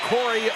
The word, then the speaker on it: Corey: And the hold was by Corey Leckerkerker.